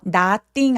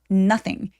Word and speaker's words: nothing: 자, 여기서 nothing 아니고요. nothing 이라고 우리가 잘 알고 있는 but 발음 기호하고도 똑같은 소리예요. 그래서 빠르고 또렷한 단모음 소리로 nothing 해주세요. nothing 길어지지 않습니다.